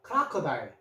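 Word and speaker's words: crocodile: 크르에다가 R은 소리 리을 한 번만 합니다. 그래서 크라 요거 C가 키 소리 납니다. 크라커 어 소리 났고 요거 I 소리에 리얼이 있죠.은 하지 E는 하지 말고요.요 리을요 하면은 크라커다일 되죠.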